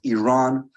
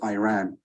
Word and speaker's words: Iran: First of all, you say you support the Iranian people, but you're pronouncing our country's name wrong. Our country is named Iran, not Iran.